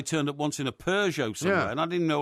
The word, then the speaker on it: Peugeot: up once in a Peugeot somewhere, and I didn't know what a Peugeot was. Right. I couldn't pronounce it. I said the Pugot.